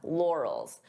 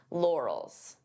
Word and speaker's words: laurels: This could be a hard word to pronounce depending on your native language because we have an R and an L. Lor lore. So divide the sounds until you're comfortable with each sound. Lals and then you can pronounce it as one.